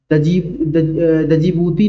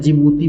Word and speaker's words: जिबूती: Yemen जिबूती, डी दजीबूती नहीं होगा, D silent है, जिबूती बोलते हैं इसको।